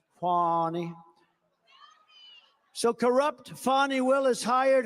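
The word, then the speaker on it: Fani: now even though it's I believe it's spelled f a ni I to my way of thinking that's Fanny but when she became the district attorney I think she put a little emphasis on you fonnie so corrupt fonnie Willis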